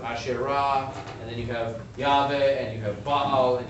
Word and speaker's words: Yahweh: In fact, the name of the Hebrew God, Yod-He-Vav-He, pronounced Adonai in traditional circles, but most likely pronounced as Yahweh, also sometimes comes out as Jehovah, depending on who's doing the telling.